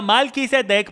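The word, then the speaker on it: מלכי צדק: vino y pan abraham se pronuncia malki setex porque está compuesto de dos palabras malki y sé de qué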